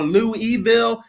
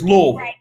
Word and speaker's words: Louisville: in the midwest that most people call louisville or lou evil and it's louisville and if you don't